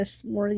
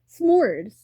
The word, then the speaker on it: s'mores: knowing about what a smorg is, and I'm like, yeah, smorgs are fun. She's saying some word like a smorg. Smorg. Am I saying it right? S'mores.